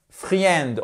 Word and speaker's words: friend: Attention, c'est friend, c'est pas friend, on ne prononce pas le i, friend.